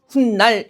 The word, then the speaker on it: 훗날: 발음이 어떻게 된다는 겁니까? 훗날 이렇게 발음이 되다 보니까 그죠? 니은 앞에서 니은 소리가 덧나서 사이시옷을 적어 준 거고 문제는 이게 순